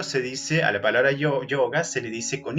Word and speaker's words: yoga: ruidito ahí de gaseosa, yoga. Ese es verdaderamente el sonido antiguo de la y.